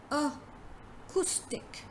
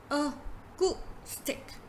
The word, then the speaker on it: acoustic: But the correct pronunciation of the word is acoustic. Acoustic. So it's ku. So there is ku.